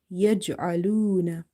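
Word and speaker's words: يجعلون: Barq, barq, yaj'aluna, yaj'aluna. Ain is from the middle of the throat and it's a bit squeezing sound. Yaj'aluna. If we say it yaj'aluna like alif, then the meaning will change because we will fall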